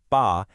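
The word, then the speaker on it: 巴: The bottom part, ba, which is pronounced ba, is giving you the sound.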